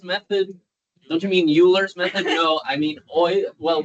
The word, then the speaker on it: Euler: First one is called Euler's method. Don't you mean Euler's method? No, I mean well, this dude spoke German, and that's the German or close to the German pronunciation.